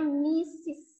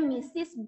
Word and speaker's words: Mrs: dia dengan mistis ya Mrs ini dibacanya mistis ya jadi namanya misis Brown ini keduanya kalau